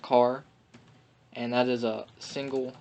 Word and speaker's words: char: number character actually and it's just pronounced car and that is a